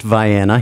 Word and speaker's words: Vienna: number one and um the town of vienna and indeed it is pronounced viana here in maine as you know place